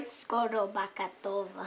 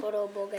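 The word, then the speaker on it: Skorobogatova: Skoro-Bakatova. That's a pretty good pronunciation. Skoro-Bogatova.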